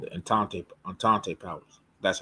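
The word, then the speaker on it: Entente: The allies are also called the antante antante powers.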